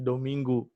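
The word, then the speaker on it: Domingo: apa Um Minggu dominggu tulisannya dominggo ya pakai Belakangnya pakai O kalau Portugis Belakangnya pakai o tapi dibacanya uu-nya itu jadi dominggu artinya apa sandi dominggo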